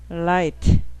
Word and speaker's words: light: 발음이 그러니까 light 할 때는 그냥 다른 거 구분하지 마시고 혀를 천장에 딱 붙였다 띄면 light고 천장에 절대 붙지 않게 말아서 right 이렇게 하면은 천장에 말지 않아도 earth 천장에 혀가 안 닿도록 노력하면은 r이고 닿으면 l이에요.